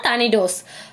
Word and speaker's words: tornadoes: டர்னடோஸ், இங்கே TORNADOESன்னு இருக்கு இல்லையா, அது ஆக்சுவலி எப்படி ப்ரொனவுன்ஸ் பண்ணணும்னா டர்னடோஸ்.